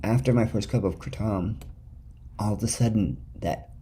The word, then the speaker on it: Kratom: and I call it Kratom because that's the correct way it's pronounced in Thailand where it originates Malaysia Thailand and Indonesia